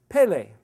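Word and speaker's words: פלא: hidden mystery that's so amazingly wonderful and it's pronounced Pele his his secret is Balaam at Aleph Bob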